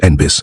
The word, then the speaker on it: NNBIS: The White House stressed that NNBIS, which insiders pronounced Nbby, was not supposed to run anything.